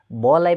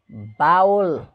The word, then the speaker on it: bowl: Next BOWL यसको उच्चारण बाउल गर्ने गरेका छन्, तर यो रङ हो, बाउल नभएर बोल। करेक्ट उच्चारण यसको के हो बोल बोल भनेको कचौरा।